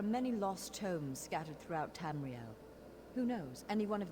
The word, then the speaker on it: Tamriel: you came for crafting continue our adventures across tammy girl two tamriel there we go that's how you pronounce things so until next time i'll see